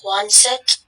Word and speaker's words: Quonset: Quonset. Am I saying it correctly? Quonset? Quonset.